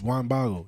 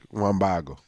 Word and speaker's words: Juan Bago: Juan Bago. It sounds like Juan bottle, right? Juan Bago. One bottle.